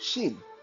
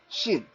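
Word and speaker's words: Xing: so family name you're Mandarin called Shin x-i-n-g Shin um and like I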